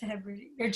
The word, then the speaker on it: Hebrides: And southern, I don't know how you pronounce it, Hebrides. Hebrides. Yeah. It is Hebrides.